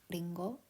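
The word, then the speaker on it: りんご: a pronunciation Etc um it's kind of like an r and an l sound mixed together it is hard to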